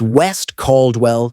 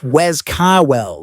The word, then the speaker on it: West Caldwell: It's West Caldwell, New Jersey. Say it right, West Cald. Well, not Wes Cawell like some schmuck who's never read a map.